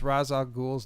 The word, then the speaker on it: Ra's al Ghul: How do you pronounce Ra's al Ghul's name?